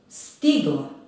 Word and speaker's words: stigla: Stigla. Akcenat je opet na prvom slogu.